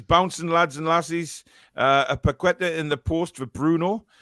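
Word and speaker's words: Paquetá: Paqueta. Was that right, Alex? Paqueta? It's close enough, yeah. That'll do, yeah. King Edward says, up the Premier League we go. Andy says, bouncing lads and lassies. A Paqueta in the post for Bruno.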